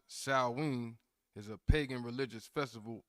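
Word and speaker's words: Samhain: spelled just so we can get it it's pronounced Sween but it's spelled s a m h i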